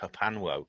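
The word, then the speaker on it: HPANWO: HPA, I just pronounce it Hapanwo.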